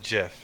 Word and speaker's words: GIF: jerseth i don't say gif the creator of the first chip ever pronounces it jiff yeah but then people